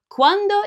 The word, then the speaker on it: quando: Quando in Italian means when. But if you don't know this song, just remember that quando kind of sounds like saying when do in English.